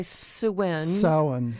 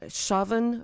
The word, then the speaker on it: Samhain: Some people say Samhain. Samhain. But Yeah. in reading about it today, both of those pronunciations are said to be incorrect by people who know Gaelic.